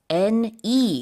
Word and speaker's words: Helene: 이렇게 60명 이상의 사망자가 나오는 그런 허리케인인데 영어로는 Helene. There's an extra E in there. 그럼 헬렌이 아니라 헬린 It's 이렇게 Helene, 발음하는군요. yes, as the name. The emphasis is on the second syllable as opposed to Helen.